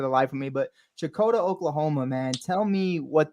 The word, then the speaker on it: Checotah: and raised there um say it for me how do you how do you say shakota that's exactly see that's what I was